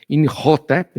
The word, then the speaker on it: Imhotep: Então, Imotep ou lá, se a gente for da pronúncia correta, inhotep, né? Por causa do da língua gutural, né? a gente fala em Motep que fica mais fácil.